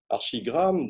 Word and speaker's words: Archigram: Il y a dans les années 60-70, Archigram, donc là, je le prononce à la française, donc c'est un groupe d'architectes britanniques.